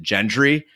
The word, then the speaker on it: Gendry: makes sense as for Gendry I admit that his mistake is well on the pronunciation I've been listening to the audio books of Game of Thrones and on those they pronounce it gentry and there's also all